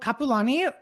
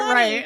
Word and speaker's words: Kapualani: So Kapualani, why don't you introduce yourself and let the audience know who you are and a little bit about you?